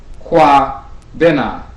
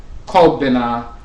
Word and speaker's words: Kwabena: Or sometimes they pronounce it Ko Bena or Ko Bera, or different variations, but typically Kwabena, and Kwabena means a servant or a subject of the Abosom Bena.